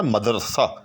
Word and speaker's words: مدرسہ: تھا مدرسہ ہو گیا، یعنی اصل تلفظ جو ہے وہ ہے مدرسہ، یاد رکھیے گا مدرسہ۔ لیکن اب اچھے خاصے